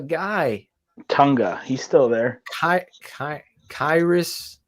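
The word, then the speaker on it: Khyiris: Tonga he's still there kairis I believe kiris kiris Tonga yeah k-h-y-i-r-i-s six two three twenty five Shane pronounced kairis Tonga I did it right look at that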